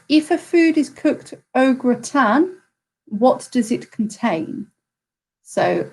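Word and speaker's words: au gratin: so one was if a food is cooked ogre tan what does it contain so ogre town is spelt a u g r a t i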